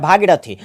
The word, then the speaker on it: भागीरथी: हो जाएगा क्यों क्योंकि देखो इसका जो उच्चारण होता है भाग्य राठी होता है क्या होता है भागीरथी भागीरथी जी में जो है हर्षिकार इसलिए लगेगा क्योंकि यहां पर जल्दी उच्चारण हो जाता है और राठी राठी राठी खाने से ये होता है की यहां पर जोर पड़ता है यानी की डर से उच्चारण होता है इसलिए यहां पर दीर्घिकार लगेगा ठीक है यानी की ऑप्शन